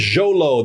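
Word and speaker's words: Xolo: And his name is Jolo. That's how you say it.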